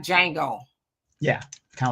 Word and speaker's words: Django: No, the J is silent. Oh, like Django. Yeah, kind of like that. The Django.